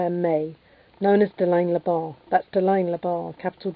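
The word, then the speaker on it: Le Bans: capital B, small A-N-S, with the S being silent, Labar.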